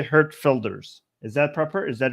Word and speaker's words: Geert Wilders: Apparently, the G sounds like an H. Hurt, and the W is supposed to sound like an F and something between an F and a V. So it's Hurt Filders.